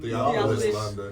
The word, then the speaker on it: Theophilus London: How do you pronounce this person's name? Theophilus London? Theophilus London.